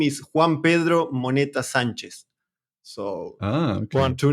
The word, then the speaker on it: Juan Pedro Monetta Sanchez: The whole one is Juan Pedro Monetta Sanchez. That is how we pronounce it here.